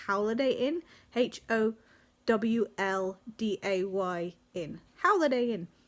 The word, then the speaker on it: Howliday Inn: So now I go on to Holiday Inn, which I believe actually is pronounced Howliday Inn, Holiday WLDAY Inn.